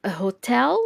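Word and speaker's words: hôtel: has an silent h it's like when you say hotel which is Hotel it hasn't it has an H in French but it is silent so you will be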